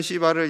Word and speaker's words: 시바: 소망합니다 자 아까 불렀던 시바를 이제 다시 불러요 여러분 발음 잘 하셔야 돼요 시바 부드럽게 하셔야 돼요 자 9절에서 10절입니다 9절